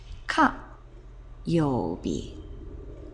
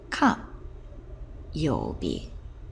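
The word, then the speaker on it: 火曜日: day of the week, which is pronounced ka yobi. Ka yobi, and that's Tuesday.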